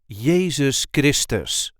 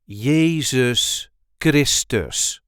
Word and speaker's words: Jezus Christus: the correct pronunciation is Jesus Christus Jesus Christus there is a light emphasis on the second syllable of his second name yeus Christ yeus Jesus